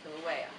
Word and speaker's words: Kilauea: see the same spell it out phonetically so I know it's kill a way so I can go back and I can say Kilauea the volcano Kilauea had